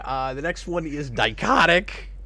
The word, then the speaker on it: Dichotic: the next one is dicotic rhymes with psychotic which is how I'm